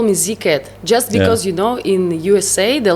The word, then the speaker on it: Z-CaT: You're supposed to pronounce it like Z-CaT. Z-CaT. Yeah, exactly. That's why you hear it sounds like a rhyme. Z-CaT.